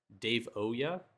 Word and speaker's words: Davoyuh: Today we have, hold on, can you give me the pronunciation of how to say his account name? Davoyuh, Davoyuh, Davoyuh, Davoyuh.